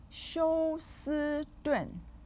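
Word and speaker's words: 休斯顿: 休 with the 1st tone, 斯 with the 1st tone, and 顿 with the 4th tone.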